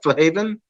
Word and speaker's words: Flahaven: Am I saying your last name right? Flahaven? Yeah, you're actually one of the only people to say it right.